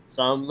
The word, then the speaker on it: Xumm: s-u-m you get it some as in money oh okay that's kind